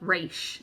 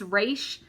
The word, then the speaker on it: Raisch: This one is Melinda Raisch. And I guess it's Raisch. It's R-A-I-S-C-H. We're going to go with that.